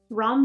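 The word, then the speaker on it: Rhom: going against an AI this is called the ROM robots I believe that's how you pronounce it r h o m ROM robots and you're going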